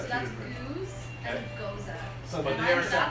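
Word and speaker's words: Gueuze: Yeah, so So you got two that's different- goose and Goza. So But And they are that's separate. it. I'm sticking with that. It's That's, Goza.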